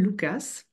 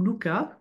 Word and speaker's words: Lucas: un homme qui s'appelle Lucas ou Lucas je sais pas comment vous le prononcez moi je suis Auque donc on prononce les S et elle a une